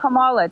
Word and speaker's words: Kamala: And I could also, it's pronounced Kamala Harris. Kamala, I pronounce her name right, I'm going to kick you.